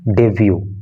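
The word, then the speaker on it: debut: इस वर्ड के प्रोनाउंसिएशन पे, उच्चारण पे आपको विशेष ध्यान देना है, इसको डिबट नहीं पढ़ना है। ये डिबट नहीं होता, बल्कि क्या होता है? डेब्यू, शुरुआत।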